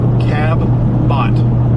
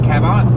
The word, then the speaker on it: Cabot: like bb bb okay bb bb and it's pronounced Cabbot cabat Cabot it's Cabot okay Cabot y'all are weird Arkansas what what what language